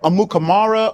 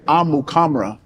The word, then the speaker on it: Amukamara: I always say it's tomato tomato because then it's like amukamara. Amukam. But my parents say amuamra.